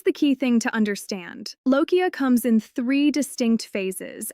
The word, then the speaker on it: lochia: The medical term for postpartum bleeding is lochia, pronounced l-o-h-k-i-a, and it is not the same as a period.